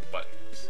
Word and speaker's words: button: just another SE so buttons me and my Utah accent we don't pronounce the T in things like button and Mitten and Mountain well I pronounce the